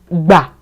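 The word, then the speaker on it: bà: When you pronounce this syllable, you notice that your voice gets lower.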